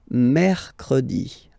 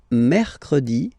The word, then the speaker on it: mercredi: The next one is mercredi.